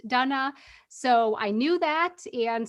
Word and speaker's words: Dana: is Donna and learning that my heritage is Czech and learning that's why my name is pronounced Donna.